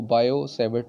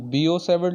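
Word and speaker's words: Biot-Savart: बायो-सैवर्ट लॉ, इसको हम बीओ-सैवर्ट लॉ भी बोल सकते हैं, बायो-सैवर्ट लॉ भी बोल सकते हैं, या अक्सर लोग टी को साइलेंट भी बोलते हैं, सिर्फ और सिर्फ बायोसेवर्ट्स इसको बोलते हैं।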